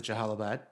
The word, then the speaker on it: Jalalabad: And then earlier this episode, the guy pronounced it Jalalabad, which solved that riddle in my mind of how to actually say it after hearing it all these years.